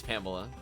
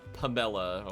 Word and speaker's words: Pamela: that a thing dokie no it's Pamela not pumbella I'm not pronouncing it